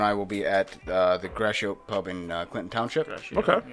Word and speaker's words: Gratiot: So on October 12th, both Cam and I will be at the Gratiot Pub in Clinton Township. Okay. Is that how you And pronounce Gratiot.